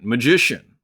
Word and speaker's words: Magician: But yeah, it's pronounced just like magician. You know, it's like the Aleister Crowley magic.